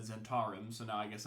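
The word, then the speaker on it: Zhentarim: like the zent the I always say the zenim but they said zentar so now I I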